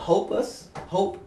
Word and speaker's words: Hope Us: The release, one of them is called Hope Us. Hopeless, I like Right? And it rhymes with opus, like in classical music.